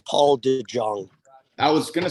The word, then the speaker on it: DeJong: I feel like it's Paul DeJong.